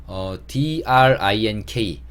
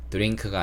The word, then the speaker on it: drink: D와 R이 이렇게 만나 있으면 디귿 소리보다는 지읒 소리를 내요. 미국 영어에서. 그래서 drink가 아니고 drink라고 발음을 하시는 게 조금 더 좋고요. 어려우시면 그냥 drink라고 하셔도 크게 문제는 없습니다.